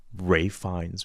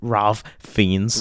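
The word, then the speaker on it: Ralph Fiennes: all the names correctly like Ray fines because he was telling me is I was like Ralph fiends Ralph fiends and he's like no man it's and I was like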